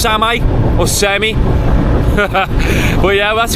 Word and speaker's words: Same: Well, it's spelled same, but it might be pronounced semi or semi.